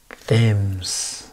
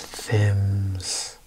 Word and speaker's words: Thames: Thames. This is British. Thames. Thames. Even has an A-S.